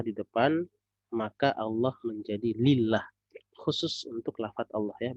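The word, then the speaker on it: لله: perhatikan lafadz Allah itu kalau dia ada hamzahnya di depan Maka bacanya Allah tapi ketika hamzahnya dihilangkan maka bacanya lillah Ya aslinya adalah Allah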